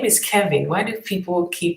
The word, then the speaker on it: Kevin: What is Kelvin's profession? His name is Kevin. Why do people keep pronouncing Kelvin? His name is Kevin, Keven. I think Kelvin is a whole other name.